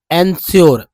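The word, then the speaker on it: ensure: जैसे एंस, देखिए SURE को श्योर पढ़ते हैं, श्योर एक वर्ड है श्योर, तो अब EN को एन पढ़ेंगे, एन, एनश्योर, एनश्योर there, एनश्योर there, Eli, elegy,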